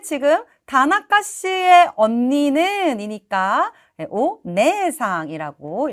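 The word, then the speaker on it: お姉さん: 다나가 씨의 언니는 이니까 오네 상이라고 읽어 주셔야겠죠 남의 누나 남의 언니니까 정답은요 오네 상이라고 적혀 있는 3번이 되겠네요 우리 1번에 오네는 장음이 아니어서 틀렸고 2번에 있는 오니는 여기도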